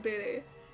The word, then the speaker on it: Bede: I know most people pronounce, like, beat or something, but I pronounced it Bede, and I do it ever since. Because maybe then I can forget that his name's supposed to be Beat.